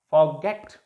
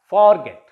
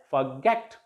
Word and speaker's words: forget: Begin, remain, prefer, not prefer, prolong, regard, forget, not forget. It will be pronounced as forget. The stress will be on the last syllable.